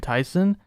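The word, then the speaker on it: Taisen: clear up one thing when i say rockman tyson it's spelled t-a-i-s-e-n it's a japanese name commonly translated says wars yeah like rockman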